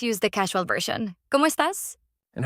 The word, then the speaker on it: estás: Notice the stress is on the last syllable. Estás, not estás. That stress matters in Spanish.